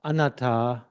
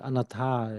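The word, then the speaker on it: anattā: Because I pronounced anata slightly the way that we were pronounced it in the Pali, but in the Thai they pronounce it anata. They pronounce it slightly different.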